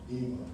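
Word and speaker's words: Yma: And my middle sister, she's still older, is Ema. Ema. And it's unique spellings. And so, Y-M-A, like Ema Sumac, yeah.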